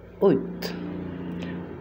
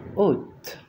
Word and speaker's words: août: Agosto, se escribe así y se pronuncia août, août.